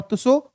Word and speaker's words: त्सो: तो दोनों झीलें हैं, तुसोकर झील और तुसो मोरीरी झील। अच्छा, एक चीज ध्यान रखना कि लद्दाख में जो तिब्बती भाषा है उसमें झील को कहते हैं तुसो। क्या बोलते हैं? तुसो। टी साइलेंट होता है, इसलिए लिखने में ये